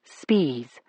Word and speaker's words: Spies: One of them was a teacher named August Spies. That's how he pronounced it. Spies, not spies.